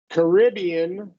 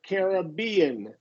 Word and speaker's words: Caribbean: maybe the Caribbean so you got two pronunciations there you can do Caribbean or Caribbean so you're either going to stress stress this one or this one Caribbean or car Carib